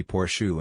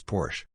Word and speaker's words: Porsche: blown porish I didn't didn't know it was supposed to be porsu and used to pronounce it as Porsche dund it's apparently Dax